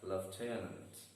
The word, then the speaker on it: lieutenant: 5, lieutenant, again having 3 syllables and the stress is on the second syllable and the word is read as lieutenant.